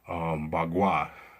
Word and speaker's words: Bagua: Bagua, that's the correct pronunciation.